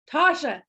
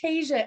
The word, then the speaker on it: Tasha: Let me just tell you, Amanda and Kayla, and I'm going to say it wrong, Tasha. I got it right this time. Oh my gosh, I kept on saying Tasia every time.